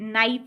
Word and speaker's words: knife: तो जैसे बच्चों आप डिफरेंट वर्ड्स हैं, जैसे कि नाइफ है, ठीक है, आप KNIFE, नाइफ, ठीक है, इसमें के साइलेंट होता है, ठीक है, नाइफ में क्या साइलेंट होता है, के, ठीक है।